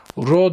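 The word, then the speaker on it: rho: biz ona özdirenç diyoruz Row ile gösteriyoruz Row diye okunuyor böyle şöyle birkaç tane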